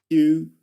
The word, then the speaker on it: queue: of pronunciation and spelling because it's got one consonant, the consonant Q and four letters more, four vowels, four vowel letters. um which are not pronounced. Okay, so it's quite weird. But the point is that you only pronounce the Q.